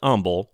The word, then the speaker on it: Humble: of this choice that humble has its unique pronunciation pleasant humble pronounced his name with a silent h and the town followed suit german native charles bender